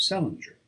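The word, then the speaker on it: St Leger: Patience, who was born in 1858, married an Irishman of the name of Salinger, which was the usual way of pronouncing the name of Saint Leger, or as they spelled it, Sent Ledger, restored by later generations to the still older form.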